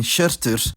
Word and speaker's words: hjörtur: To finish the digraphs, there's how yoth for sh, like in shirtur, and of course geyoth and kauyoth now say ge and ke respectively, as mentioned earlier.